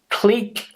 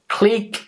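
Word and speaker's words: clique: this one here is Click Click Okay click with the longer vow sound click and a click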